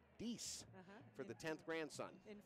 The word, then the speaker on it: Dix: And his last name, or the D stands for Dix, pronounced D-I-X, but it's actually Dice for the 10th grandson.